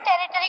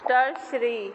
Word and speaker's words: tertiary: is eagle is a territory consumer. Tertiary. Tertiary. Correct pronunciation is tertiary.